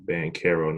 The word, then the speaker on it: Banchero: and then my name my last name spelled with a CH but it makes a CK sound so bang Karen I've been in zero